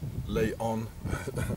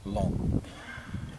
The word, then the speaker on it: Laon: don't pronounce the oath it is not lay on it's lawn and this is a